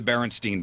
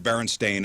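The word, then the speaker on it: Berenstain: I always remember the Baronstein bears. I never heard Baron Stain until recently.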